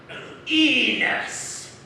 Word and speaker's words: Enos: Enos. Yes? Rhymes with penis.